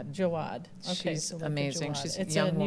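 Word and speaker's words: Jaouad: So, it's the book of alchemy, a creative practice for an inspired life and it's pronounced sulea. Sulea. Sulea. Jawad. Jawad.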